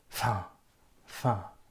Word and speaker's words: enfin: And when the French pronounce this word enfin, they pronounce it very fast. So you will hear something like fin, fin at the middle of a sentence.